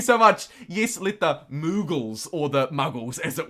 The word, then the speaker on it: Moogle: Muggles, like Harry Potter. No, just me. It's more of a ooh. It's moogles. Thank you, Alec. More of a moo like a cow moo than a mug like a mug like I am.